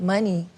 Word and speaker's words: Muni: at the time they were like you should pronounce it money and I thought it was really cool I